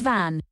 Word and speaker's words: Van: Van or Vaughn, what are we doing? I'm partial to Vaughn because of the vision of Escaflowne, but... Okay, FakeNet, how do you say it? Initializing FakeNet. Van. The boy's name is Van.